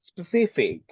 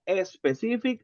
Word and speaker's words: specific: like this one remember pronunciation no a specific uhuh no no a specific uhuh uhuh not like that eliminate this one eliminate and listen to me specific specific specific thank